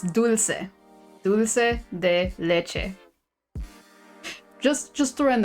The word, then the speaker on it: dulce: Not douche, it's dulce.